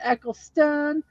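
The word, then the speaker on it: Eccleston: I mispronounced it because I'm Southern and I mispronounce words all the time but it is Christopher eckelstone sorry about that I said it wrong earlier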